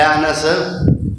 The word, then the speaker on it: انس: تلفظ دی غلطی، اسی بعض دفعہ نام لینے تے انس کہنے، انس یعنی کہ نون دی جڑی زبر ہوندی ہے نا نون تے انہوں کھا جانے انس، لفظ انس، انس لفظ